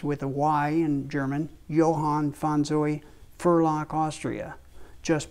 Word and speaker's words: Johann: in gold filled engrave lettering Johan which is pronounced with a why in german johann von zoe firlock austria just behind the rear